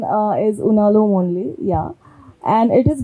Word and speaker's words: Unalome: is the pronunciation proper pronunciation of unom unom pronunciation uh is unom only yeah and it is basically a symbol